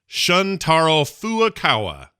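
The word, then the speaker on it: Shuntaro Furukawa: new to do Nintendo's president and his name is spelled funny so I'm gonna try my best his name is shuntaro foo Okawa thank you very much he's apologized for joi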